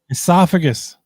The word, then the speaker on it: esophagus: Uh the esopagus. Jesus Christ. How do you say it? Esophagus.